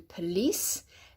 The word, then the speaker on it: police: Now when we come to police, then with police, the second syllable is emphasized. P, not po or po, but just go p. It's a schwa sound. P, police. Police. Can you hear I'm emphasizing the lease?